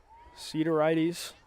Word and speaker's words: Sideridis: And NYU making another goalkeeper substitution, double zeros, Dimitra Sideridis. I hope I got that right. Sidorides, according to the pronunciation guide.